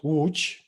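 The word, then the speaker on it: Łódź: from poland from from a city called wooch which is also very hard to not only pronounce but to write because uh three letters out of four are just native polish letters and which means both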